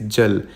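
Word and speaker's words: Jala: नीति and again भाई इनके तुम स्पेलिंग्स देखो जे ए एल ए लिखा हुआ है और प्रोनाउंस करने में इट इज जल तभी मैं बोल रहा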